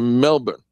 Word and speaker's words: Melbourne: Well, be careful, Jay, if you head out to Melbourne.